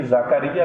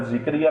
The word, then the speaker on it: زکریا: مریم کی کفالت کی۔ قرآن میں چونکہ یہ زکریا لفظ آیا، ہمارے ہاں عام عوام کے اندر ذکریہ لفظ پڑھا جاتا ہے، تو ظاہری بات ہے میں تو وہ قرآن والا جو تلفظ ہے اسی کے مطابق پڑھ رہا ہوں۔ تو زکریا علیہ السلام